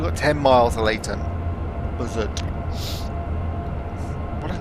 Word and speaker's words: Leighton: Leighton, Ley. But then you've got Leighton in East London, which is Leyton, and this is Leighton.